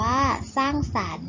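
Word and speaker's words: สร้างสรรค์: แต่ ไม่ ออก เสียง สร้าง สรรค์ อ่าน ว่า สร้าง สรรค์ มี ข้อ ควาย เป็น ตัว การันต์ แต่ ก็ ไม่ ออก เสียง และ สัปดาห์ อ่าน ว่า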